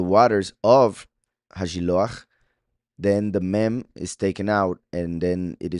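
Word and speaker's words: מי: already know, remember that this word right here, mem yud, without the vowel points, of course, just mem yud, can also be pronounced and would be pronounced me, which means who, right?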